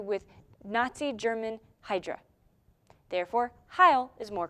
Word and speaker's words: Heil: In the comics, though, it was originally written H-E-I-L, Heil. And in today's American pronunciation, it would be Hail, even if it was written that way because, you know, Americans don't care about other cultures.